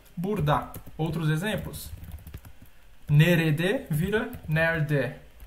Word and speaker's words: burada: Então aqui a gente escreve burada, só que a gente pronuncia burda.